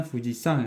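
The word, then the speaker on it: 富士山: terus Fujiama ya ini ini kanjinya Fujiama tapi dibacanya Fujiang ya teman-teman Fujiang wa Kirees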